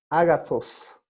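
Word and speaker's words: ἀγαθός: Agathos. Agathos o agathos, algunos pronuncian, ¿no? Agathos, como Z. O agathos.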